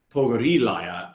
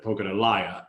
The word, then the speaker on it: Pogorilaya: through several pronunciations, and mainly it was about the emphasis in the names. And that was important. Like, Pogorilaya instead of Pogorelaya.